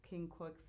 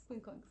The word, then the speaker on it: quincunx: we were talking about right which is that king cooks or whatever how are you like king books king cooks oh quincunx yeah i like so that was like that